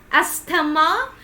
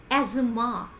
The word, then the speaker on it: asthma: what do you pronounce it do you also pronounce it like astama so it is wrong you always have to pronounce it like asthma it is not as Tama you must be